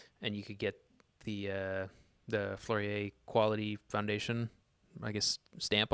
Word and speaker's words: Fleurier: Is that how you pronounce it correctly? Fleurier.